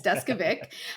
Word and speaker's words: Deskovic: is uh jeffrey deskovic it's not an easy last name lots of people ask me how to pronounce that before they ever start talking to me but yeah it's desk vic and jeff was he